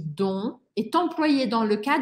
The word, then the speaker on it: dont: nous avons aussi donc dont je ne prononce pas le T je dis donc est employé dans le